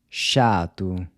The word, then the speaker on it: chato: chato. What’s the word for “dog”? cachorro. How do you say “to call”? chamar. So the “c-h” is pronounced like the “s-h” in “shop”.